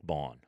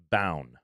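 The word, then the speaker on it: Baun: don't like about Zack Bon his name is spelled b a u n I'm in Denver to me that says bound but instead it's Bon I don't like that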